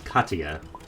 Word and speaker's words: Katya: Also, wait, I realized I mispronounced. That it's Katya. I'm going too fast in the middle syllable.